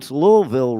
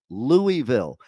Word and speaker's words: Louisville: here in Kentucky who don't even know how to pron louville right they pronounce it louville it's Louisville was it King L